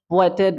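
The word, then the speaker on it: waited: উচ্চারণটা এভাবেই করে ওয়েটেড ওয়েটেড ওয়েটেড ওকে ওয়ান্টেড ওয়ান্টেড এটা কিন্তু হবে না আমার কি সঠিক উচ্চারণ হবেটি বাডি থাকলে প্রেজেন্ট ফর্মে পাস্ট ফর্মে যে ইড উচ্চারণ সঙ্গে ইডি যুক্ত হলে ইড উচ্চারণ হবে ওয়ে থেকে ওয়েটিড হবে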